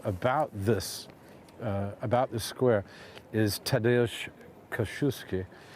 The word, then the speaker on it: Kościuszko: I'll tell you, one of my favorite stories as well about this square is Tadeusz Kościuszko, Kosciuszko, say it right, it's a bit cold, who